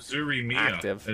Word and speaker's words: Uzuri Mia: Uzuri Mia is actually how you pronounce their name.